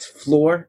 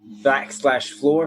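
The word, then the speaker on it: Flore: you spell that aaron that's lore with an f at the beginning so it sounds like floor but it's not the floor you're thinking because it's our floor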